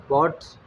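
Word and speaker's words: bought: बाज़ ऐसे वर्ब्स होंगे जिसकी सेकंड और थर्ड फॉर्म में OUGHT या AUGHT नज़र आएगा, जैसे बाय, बॉट्स, बॉट्स। ये UGH अब साइलेंट है, पहले भी पढ़ चुके हैं।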